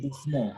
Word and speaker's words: doucement: We say doucement, okay?